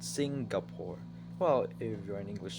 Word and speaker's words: Singapore: a long dream of mine to get a Singapore in dollar I want to get the two